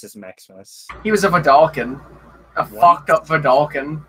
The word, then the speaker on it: Vedalken: Valakan? What is that? Vidalcan. It's the Vidalcan.